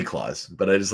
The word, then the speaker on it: Klaus: think there's three collections is it clouds or is it claws it'd be claws but I just like